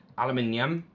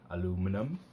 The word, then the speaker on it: aluminium: This is aluminium, or as Americans say, aluminum.